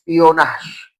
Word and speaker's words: espionage: po ito ay actually pag tinignan natinung spelling niya espionage pero ang pronunciation ay ano is Spionash.